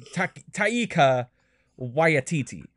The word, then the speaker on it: Taika Waititi: It is spelled Taki, or not Taki, Taika Waititi.